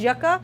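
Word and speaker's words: yuca: cut this into thirds they pronounce it as yaka or cassava cassava root peel away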